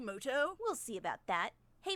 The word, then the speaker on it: Muto: fun wait a minute is that yugi mudo actually his name is pronounced yugi moto we'll see about that